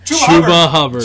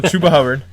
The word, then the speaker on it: Chuba Hubbard: Chuba Hubbard. Chuba Hubbard. See, I want to say Chuba Hubbard, but I know that's wrong. So Chuba Hubbard.